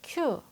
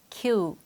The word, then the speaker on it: Q: p p 알파벳 키우 우리는 대부분 이 글자를 단순하게 q 라고 발음을 하죠 하지만 잘못된 발음 입니다 이 글자를 발음할 때에는 이임 모양처럼 입술을 양옆으로 당겼다가 온 뭐니 며 키우 하고 소리 내야 해요 그럼 영어식 강세와 리듬을